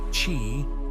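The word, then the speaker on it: qi: balance of vital energies known as Ki pronounced Chi and the interplay of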